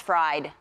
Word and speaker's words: Fried: I normally it's like, "Hey, you know, Max Fried, F-R-I-D, spelled like fried."